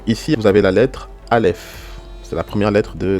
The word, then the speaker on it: Aleph: En général, franchement, le Aleph, c'est vraiment une lettre muette.